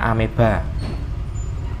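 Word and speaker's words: amoeba: Nah, bacanya ameba.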